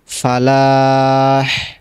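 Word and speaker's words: فلاح: বের করতে হবে হাটাকে, ফালাহ সলাহের ক্ষেত্রে এভাবে সলাহ, শেষে বড় হা, আর ফালাহের ক্ষেত্রে হাইয়া আলাল ফালাহ, এই যে হাটা উচ্চারণ করতে হবে ফালাহের ক্ষেত্রে, এই জিনিসটা লক্ষ্য রাখবেন।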